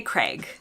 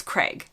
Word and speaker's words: Craig: get so many comments I would say Craig and so many people think that this is really strange and that Americans say this and like they think this word is not supposed to rhyme with Greg but in my accent it does it's Craig in the UK I think you're supposed to like draw it out more but I'm not